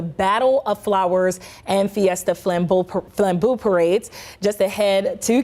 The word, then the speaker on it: Flambeau: you say that parade one more time Lambo Flambeau there we go this is my first year